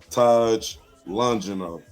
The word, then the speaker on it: Taj Longino: uh it's this yeah it's actually it's actually pronounced taj longino taj lonjin though okay i will make sure